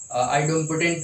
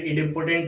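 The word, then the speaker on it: idempotent: Pronunciation थोड़ा ऊपर नीचे हो सकता है, कोई बात नहीं। आइडेम्पोटेंट लॉ या फिर इडेम्पोटेंट लॉ, कोई ऐसे भी बोलता है, चलेगा।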